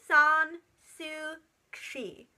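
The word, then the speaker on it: Aung San Suu Kyi: a democracy movement in my own mark on song sue she that's how you say it I'll put it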